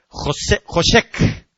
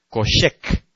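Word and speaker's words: חֹשֶׁךְ: Entonces, esa palabra tinieblas, en primera instancia es una palabra que se lee Joshek, que se escribe K-J-O-S-H-E-K. K-J-O-S-H-E-K. Joshek.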